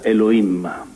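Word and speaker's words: אלוהים: del nome Dio nella lingua ebraica Dio si pronuncia e lo Imma ed è una ed è un nome alla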